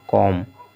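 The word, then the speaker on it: comb: बम बम भी इसी तरह से पढ़ा जाए कॉम कॉम भी इसी तरह से पढ़ा जाएगा डम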